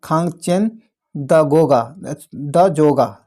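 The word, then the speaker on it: Khangchendzonga: आगे कहता है, सॉरी दोस्तों इसका जो है तो प्रोनाउंसिएशन क्या होता है? खांगचेन, क्या है? खांगचेन द जोगा, ध्यान रखिएगा।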